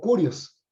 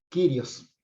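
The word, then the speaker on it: κύριος: a considerar ahora es el título Kyrios o Curios, como se lo pronuncian eh, quienes aprendieron la pronunciación erasmiana. Yo lo voy a estar pronunciando Kyrios porque esa es la pronunciación del griego moderno.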